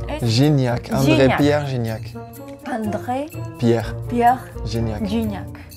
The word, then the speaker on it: Gignac: Guignac. ¿Dónde ves una U? Guignac. ¿Dónde está la U? ¿Es la G? Sería Gignac. Gignac.